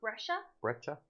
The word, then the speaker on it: Brejcha: Brejcha.